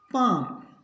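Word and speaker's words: palm: पाम, काम, काफ, talk, could, would. तो याद रखना है एल के बाद एम आई, एफ आई, के आई और डी आई, तो एल होगा साइलेंट।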